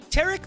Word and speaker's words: Taric: about tarik what is up with that guy tarik like yes you said it right super sonic